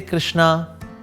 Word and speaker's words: कृष्ण: So even से कृष्णा। और से बंगाली है इसमें बंगाली से कृष्णो। और से समबडी इस यूरोपियन सोशना। और से somebody is Chinese so कृष्णा। So pronunciation आपके आगे पीछे हल्की फुल्की हो सकती है।